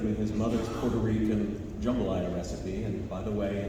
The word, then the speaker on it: jambalaya: We were friends, and he shared with me his mother's Puerto Rican jambalaya recipe, and by the way, in South Louisiana, it's pronounced jambalaya, not jambalaya.